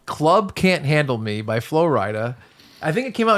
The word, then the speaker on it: Flo Rida: And it's weird because I don't know Flo Rida at all. There's another song he has It's called...